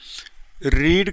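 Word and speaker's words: read: रीड का जो third form होता है बेटा वही स्पेलिंग होती है। बस उसको हम रेड पढ़ते हैं।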